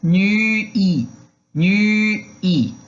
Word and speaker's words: nuit: Esse nuit é aquela boquinha do U com pronúncia de I. Então, nuit, nuit, tá?